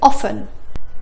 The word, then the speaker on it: often: كمان ممكن نقول often ولكن النطق الصح هو often. often listen castle. ما نطقنا صوت التي.